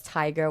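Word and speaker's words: Tadhg: And then one of them is Tiger without the R. So like Tig.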